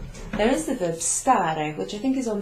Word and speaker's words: stare: there is the verb stare, which I think is on page 4 of last week's handout.